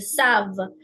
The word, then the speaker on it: savent: Here, our rule is that we don't pronounce the NT in the end. It's parle, marche, savent.